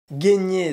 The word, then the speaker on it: gagner: si ajoute une question de prononciation qui évolue gagner se prononce gagner mais peut s'écrire avec une variante